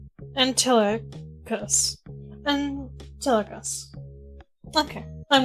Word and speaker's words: Antilochus: I'm gonna go Google how to pronounce the name. So I can half butcher it in a semi-correct way. Antilochus. Antilochus.